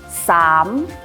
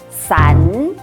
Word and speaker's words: 衫: 比如我们的衣服衫，不可以念成伞。